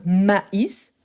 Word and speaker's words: maïs: Mais quand on dit par exemple mais et maïs, ici il y a un tréma. Donc on doit bien prononcer le i, donc maïs, et en plus je prononce le s.